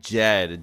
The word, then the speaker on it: Jed: They said uh it's spelled like Jed. J E D. So like Jedi.